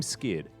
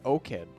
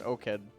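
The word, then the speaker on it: 5Kid: Are we going to call him Skid? Because I have a feeling that that 5 is supposed to be an S. I think it's O-Kid. I know his solo queue ID is O-Kid, yeah. Yeah, so 5 in Korea. Korean is translate. pronounced O. Oh, yeah, that's right. O. So I think it's just O-Kid.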